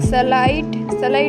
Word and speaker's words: slight: के बाद में GHT हो तो आई का उच्चारण आई से किया जाता है। SLIGHT स्लाइड में आई के बाद में GHT है तो आई का उच्चारण आई से किया जाता है।